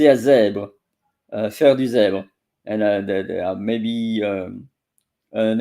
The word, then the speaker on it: zèbre: Un zèbre. So it's un, le, it's masculine. Zèbre. It's about the Canadian accent. Zèbre. Zèbre. So they are pronouncing the bl, but it's zèbre, br.